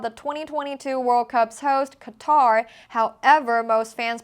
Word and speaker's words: Qatar: adashay told Yahoo sports the pronunciation in English is different because the word uses two letters that only exists in Arabic the accepted pronunciation would sound like saying Qatar but he said another way that also worked is Qatar but sometimes that sounds like gutter so we prefer Qatar other Arabic speakers explain